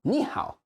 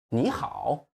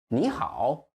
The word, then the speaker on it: 你好: English, we stress the first syllable, but for Chinese, we stress the second one. So for English, it will be 你好. Probably most English speakers would do that at the very beginning, but real Chinese should be 你好, 你好. Did you notice the difference? We stress the end, or you just extend the end.